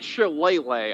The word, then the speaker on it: shillelagh: believe it's pronounced shillelagh because it's Celtic, but or at least it's something like that.